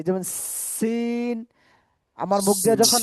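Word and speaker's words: س: এই আর কি, যেমন সিন, আমার মুখ দিয়ে যখন সি এই সিন এরকম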